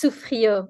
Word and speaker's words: Souffriau: It's Sufrio. It's it's a yeah it's a French name.